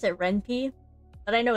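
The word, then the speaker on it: Ren'Py: I pronounce it Renp, but I know it's Renpai, right?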